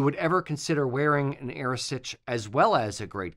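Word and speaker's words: arisaid: it's you know it's spelled aade but it's pronounced AOS if you would ever consider wearing an AOS as well as a great Kilt what I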